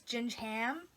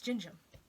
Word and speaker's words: gingham: Well, because I used to think that it was gingham, and then I was like, oh, the H is silent, so it's gingham.